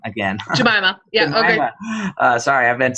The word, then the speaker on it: Jemimah: agree with Gemini I said it wrong again jamaa yeah sorry I've been saying that wrong too long so jamaa um that it's something that needs to be